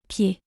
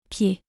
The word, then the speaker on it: pied: Foot in French is Pied. Pied. here the letter D isn't pronounced. Pied.